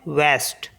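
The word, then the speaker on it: ouest: ओ यू ई एस टी इसको पढ़ते हैं वेस्ट इसका जो टी है इसको पढ़ते हैं है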